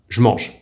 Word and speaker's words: je mange: This is why a sentence like je mange is most often pronounced by Parisians like me, je mange.